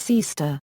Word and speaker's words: Sea-Star: Sea-Star, pronounced Seaster.